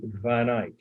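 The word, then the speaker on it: van Eyck: them dutch and that's how their names are pronounced john or john j-a-n the brother hubert h-u-b-e-r-t van ick that's two words capital v-a-n second part of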